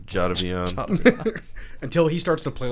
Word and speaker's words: Jadeveon: I refuse to say his name properly. It's Jadavion. Jadeveon.